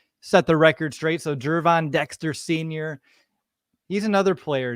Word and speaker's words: Gervon: to the defensive line so is it gervon Dexter is that how you pronounce it on the last show we're on or did you do it wrong I did it wrong it's jervon okay I'm making sure